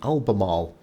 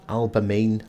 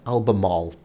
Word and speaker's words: Albemarle: So with it being, another update, I want to introduce you all to the Albemarle. Yes, not Albemarle, Albemarle. The correct pronunciation.